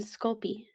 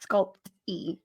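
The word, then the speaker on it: Sculpey: little side thing guys there is no tea in sculpy no sculp p e yeah it is spelled this way s c u l p e y it's not sculpt e sculp sculpy we cringe every time we hear it yes so if you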